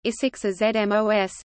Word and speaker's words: ἡσυχασμός: Hesychasm, Greek, Hesychasmos, contemporary Byzantine Greek pronunciation, Isixazmos, derives from the Greek